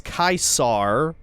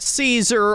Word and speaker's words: Caesar: So, first of all, the original Latin pronunciation is Kaisar, not Caesar or Kaiser.